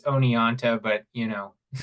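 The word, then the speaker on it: Oneonta: at uh State University of New York in onot onota tell me if I'm pronouncing that wrong writes on ecosocialist thegrowth and worked as an organizer for Ralph nater okay Peter yeah thank you um it's it's Onan but you know it's okay uh yeah my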